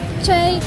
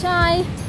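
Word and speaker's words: chay: Also, yesterday we were vlogging about how the vegan word in Vietnamese is che, but it's actually pronounced chai.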